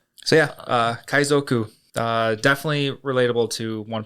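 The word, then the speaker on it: 海賊: And pirates are kaizoku. Kaizoku is spelled k a i z o ku.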